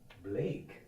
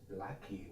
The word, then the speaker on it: Blake: Like, my first semester, I didn't know how to pronounce the name Blake. I thought for me was Blackie was the proper way.